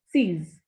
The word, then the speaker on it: six: Pronunciation of X is Z in French. So this is sees.